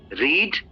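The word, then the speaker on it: read: ब्रीड ब्रेड ब्रेथ रीड लेकिन यहां पे देखिए तीनों की स्पेलिंग एक जैसी है रीड का मतलब पढ़ना होता लेकिन फर्स्ट फॉर्म रीड प्रोनाउंस करते हैं। सेकंड फॉर्म रेड प्रोनाउंस करते हैं। और इसे भी रेड प्रोनाउंस करते हैं। रीड नहीं करते सेकंड और थर्ड को या आपको पता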